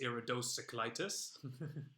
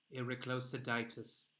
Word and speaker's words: iridocyclitis: My, that's a nice iridocyclitis. I was walking my iridocyclitis the other day. Please say the word. Iriclosiditis. No. P. Wrong. Iridocyclitis.